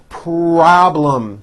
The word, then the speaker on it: problem: have a solid partnership problem this has a strong R and then in the second syllable there's a strong L problem they no longer have